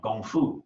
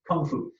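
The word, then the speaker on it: 功夫: Most people know the word Gong from Gong Fu, which we mispronounce Kung Fu.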